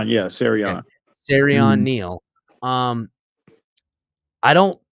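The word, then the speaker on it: Siran: can't say his name it's Ser well it's s i an so it's serion yeah serion serion Neil um I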